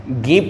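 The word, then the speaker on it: ङीप्: Dish ना पढ़ें और इसको आप डीप ना पढ़ें, इसको आप गीप पढ़ेंगे, ना से अंग का उच्चारण होगा और इसको आप गीश पढ़ेंगे।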